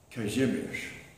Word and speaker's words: Kazimierz: I always went by the nickname of Kai, which is an abbreviated nickname for the Polish pronunciation of Casimir, Kazimierz. Kazimierz is the Polish pronunciation.